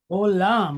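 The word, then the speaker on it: עולם: Olam. All right, so we have agin, silent letter, but it's pointed holemwa. So that group right there gives us the sound O.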